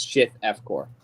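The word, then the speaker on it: Shith Efqor: It's Shift F core. Shift F core. Almost Sounds like like a keyboard shortcut.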